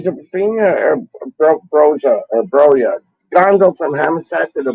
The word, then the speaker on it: Broja: You pronounce it Broya.